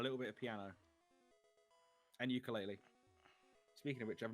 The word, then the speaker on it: ukulele: If I wanted to pronounce, like, if you wanted to pronounce it like someone from Hawaii, it's ukulele. Look. The Hawaiian way of saying it.